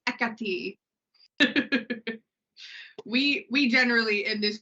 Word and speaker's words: Hekate: one Practical Magic Mighty heate make it right and I was like that's not her name I know twitching the yeah if you want the the real Greek pronunciation it is ETI we we generally in